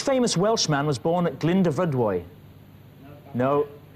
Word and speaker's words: Glyndyfrydwy: Yeah, if you do it in two sections, Glyndyfrydwy. Right, so there we are. So I still haven't improved. It's, what is Glyndyfrydwy? Glyndyfrydwy.